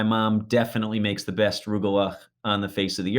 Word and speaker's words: Rugelach: Rugelach. See, it has to sound like you have a severe sinus infection or something to say it right. Rugelach or rugala, if you're a New York Jew, like my family is,